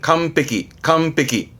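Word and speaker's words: 完璧: 발음은 감빼기. 응 때문에 발음이 바뀌죠. 감빼기.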